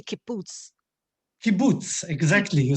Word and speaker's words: kibbutz: He grew up as a fruit grower, farmer in kibbutz in Israel. Did I say that? Can you teach me, how do you say kibbutz?